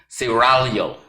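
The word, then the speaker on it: Serraglio: of ciragalo pronounce it gotta roll the tongue excuse me ceralio that's the original name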